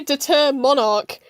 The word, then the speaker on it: Determinarch: Yeah, get ready for all the VAs to pronounce Determinarch wrong. They say Determonarch, which is actually the way you should pronounce it, but I pronounce things weird.